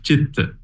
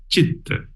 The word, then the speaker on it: citta: mind in Pali is citta. Although it is letter C, it doesn't pronounce as K, like a cake. It's pronounced as ch, as in chair.